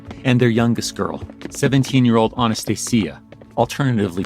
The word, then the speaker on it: Anastasia: Then their four daughters, the Grand Duchesses, Olga, Tatiana, Maria, and their youngest girl, 17-year-old Anastasia, alternatively pronounced as Anastasia.